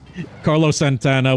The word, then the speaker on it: Santana: And don't ask why I say Carlos Santana the way I do. It just the Hispanic in me comes out. Because it's the correct way to say it.